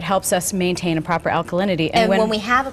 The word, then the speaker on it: alkalinity: And you were talking about, pardon me if I get the word wrong, alkalinity?